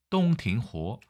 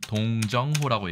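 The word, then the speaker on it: 洞庭湖: 정답은 똥팅호, 우리말로는 동정호라고 얘기하죠. 정확하진 않습니다만 동정호의 북쪽에는 후베이, 호북이 있고요.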